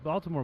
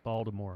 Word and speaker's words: Baltimore: Yeah, he's a Baltimore boy. He's born in Baltimore. I said it correctly that time. The natives say it without the T. Baltimore. Baltimore, really? Balmer. Some of them even say Balmer.